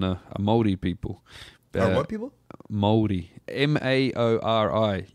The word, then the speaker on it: Māori: Māori. Maori. If you were to say how it's spelled, it's like Maori or Maori. Gotcha, Maori. You kind of roll that R.